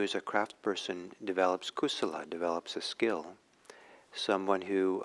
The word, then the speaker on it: kusala: important buddhist term and it's in pali it's kusala and akusala kusala is spelled k-u-s-u-l-a no k-u-s-a-l-a and ako solos a